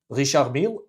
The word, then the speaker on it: Richard Mille: Richard Mille, absolutely. Richard, I pronounce it the French way.